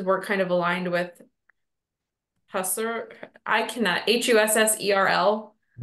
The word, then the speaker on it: Husserl: He was interested in, or I guess his work kind of aligned with Husserl, I cannot, H-U-S-S-E-R-L. How do you pronounce that? Husserl.